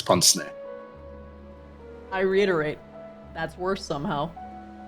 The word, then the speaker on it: pince-nez: I'm playing it. Ponsney. That's worse somehow. It's French. That's why. It's Ponsney.